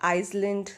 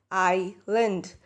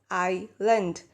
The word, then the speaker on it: island: L a and D so this is not Iceland this is not is lent you pronounce it as I lent so I lent an island is a body of land surrounded